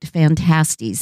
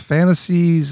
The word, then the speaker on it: Phantastes: what you think really grabbed Lewis's attention about fantasties even though he recognized it's not great literature well I should mention that it's the title is spelled p-h-a-n-t-a-s-t-e-s fantasties Mr often say have you read his fantasies or his fantastica yeah uh Fantasia it's the